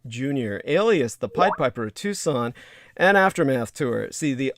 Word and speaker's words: Tucson: that would be spelled to saunas and tucson t-u-c-s-o-n uh though it's pronounced tucson it's spelled as if it were tucson put